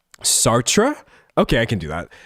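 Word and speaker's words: Sartre: Pronunciation. Sartra.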